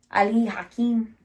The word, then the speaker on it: Ali Hakim: I played Aunt Eller and he played Ali Hakim. Ali Hakim. Yeah. That's actually how you say it. Because it's Persian.